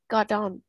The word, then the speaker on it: got on: Vậy ở đây mình đọc cái này là Gordon.